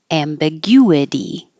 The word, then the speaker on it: ambiguity: a w ambiguous ambiguous and the stress moves ambiguity anything that ends in it um it sounds like a uh yes a ambiguity anonymous anonymous prioritize this is